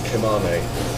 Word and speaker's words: kemençe: Kemençe, is that, I pronounced it kemane. It's like kemane.